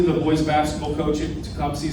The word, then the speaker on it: Tecumseh: Tecumseh. Okay, Tecumseh. That's how we pronounce it.